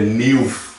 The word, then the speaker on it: nieuw: é vei no holandês, se fosse ouvir o W, deveria ser nieuw. Nieuw. Mas não. Ele é por isso que ele é mudo, senão atrapalharia a expressão da palavra. Então eles colocaram nesse sentido, né, nessa colocação, para ele ser mudo.